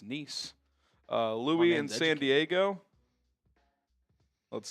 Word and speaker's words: Nice: Yes, I know I pronounce Nice. Might be spelled nice, but it's Nice.